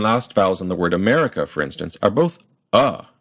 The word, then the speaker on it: America: with an example word America or the second syllable me is stressed uh to stress a